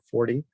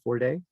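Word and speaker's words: Forde: Fordy. Am I saying your name right? Fordy or Forday? Ford, but either is fine. Ford. Okay. The E is silent.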